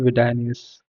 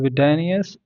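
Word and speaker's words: Widenius: SQL who was Michael vidus sorry if I pronounce it wrong uh I think we call it as like Michael VI danus so the daughter of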